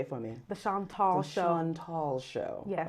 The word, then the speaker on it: Chantal: So now let's talk about the film, The Chantal. And I know I'm saying it wrong. Say it for me. The Chantal Show.